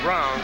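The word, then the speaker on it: Breum: There you see Sandy Brown. Spells it B-R-E-U-M. Pronounces it Brown.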